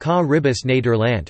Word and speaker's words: Caribisch Nederland: The Caribbean Netherlands Dutch, Caribisch Nederland, pronounced Caribbis Nederland are the three special municipalities of the Netherlands that are located in the Caribbean Sea.